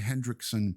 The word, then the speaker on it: Hendrickson: AJ Hendrickson Park in Valley Stream, 123 West Merrick Road, Valley Stream, Sunday, March 1st.